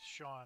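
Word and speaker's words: Chone: okay Joan figgins yeah c-h-o-n-e pronounced Sean I always thought that was funny John Lackey who came to my cubbies in 2016.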